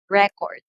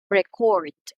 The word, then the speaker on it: record: noun or a verb when we say noun this is how you pronounce it record record record so when we talk about the verb on the other hand we say record record record so for